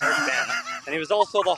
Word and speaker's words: Eric Bana: It's Eric Bana, first of all. Let's pronounce the guy's name right. He's a fucking movie star. Get it right. It's Eric Bana.